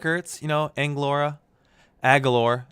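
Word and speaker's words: Agholor: you know in Laura a galore is how you say his name and you know a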